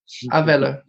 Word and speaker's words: Avelo: I hope I pronounced that correctly. Is that how you say it, Prabhu? Avelo. Avelo.